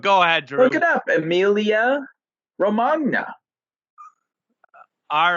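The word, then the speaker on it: Emilia-Romagna: ahead pick it up emilia romagna all right it could be like lasagna or it needs a little bit more of like a yeah sound to it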